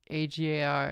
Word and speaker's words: Agar: It's pronounced Agar, exactly.